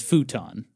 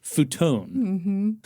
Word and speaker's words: futon: The American pronunciation is futon. Right. Right. I would pronounce it as futon.